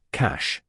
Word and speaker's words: cache: Pronounced cache.